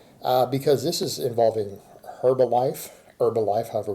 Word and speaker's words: Herbalife: this is involving Herbalife Herbalife however we pronounce it I believe ain't supposed to be silent and herbs should know